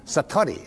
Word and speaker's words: Satori: it's called Satori I'd love to say that Satori SAT Ori and it means instant awakening the